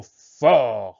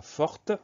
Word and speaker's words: fort: Le son F au début du mot s'écrit avec un F, le son O, fort, s'écrit avec un O. Ensuite, on trouve la lettre R pour avoir le son R, fort. Et on a une lettre muette à la fin, c'est le petit t.